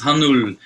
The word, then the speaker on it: Hanoulle: with that so my my last name is hanul uh and I actually have a small like